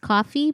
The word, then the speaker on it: Ko-fi: I got rid of Patreon and I went to, I think it's supposed to be pronounced coffee, but it's KO-FI.